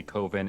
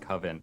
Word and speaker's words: coven: It's a very specific reference to a very offbeat documentary, which apparently Coven and Coven are both acceptable pronunciations at the end of the day.